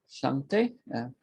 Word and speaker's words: Shante: Thank you, Shante. I hope I pronounced your name correctly.